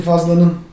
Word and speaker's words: Fadlan: So what you were saying about Proto Turks: I remember Ibn Fadlan I am not sure if it is Fadlan or Fazlan In Turkish we say Fazlan, Arabs would pronounce it differently, "Fadlan".